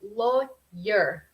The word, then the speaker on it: lawyer: Es como la pronunciación es un poco, no es como pues sí, es una letra muda por decir, y cuando está como en forma de abogado, no pronunciamos como ese W, es simplemente lawyer.